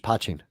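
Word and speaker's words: poteen: okay over here it's p-o-t-e-e-n okay and it's pronounced patching and that's the proper packaging ch all right got that proper patching is made only from spots right but what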